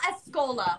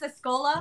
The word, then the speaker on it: Escola: everybody this is Cole Cole Escola right it's a Scola yeah yeah okay I wanted to make sure I pronounced your name right um You got it